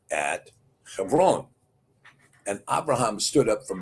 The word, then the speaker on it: Hebron: You see it spelled in the Cepher, but it's pronounced Hebron.